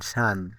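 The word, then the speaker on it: sun: সি ইউটি কাট এস ইউ এন সান। এর এই ওয়ার্ডগুলোতে ইউ এর উচ্চারণ আ হয়েছে।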